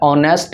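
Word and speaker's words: honest: ऑनेस्ट में H silent होता है। तो जब भी एच साइलेंट होगा तो ये औ से शुरू होता है और एक ववेल होता है।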